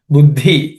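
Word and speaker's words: बुद्धि: Buddhi, I think we have already discussed. Uddhi, the compound uddha, the dha has to be, second dha has to be aspirated.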